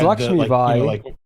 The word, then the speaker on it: Lakshmi Bai: So wait, was there an issue with because how is the correct pronunciation? Because I've always just it's Lakshmi Bai.